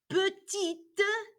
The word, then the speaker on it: petite: saying put we say we now pronounce that t at the end it is or this